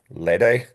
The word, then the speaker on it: Lede: It's kind of pronounced Larry with a D, Lede.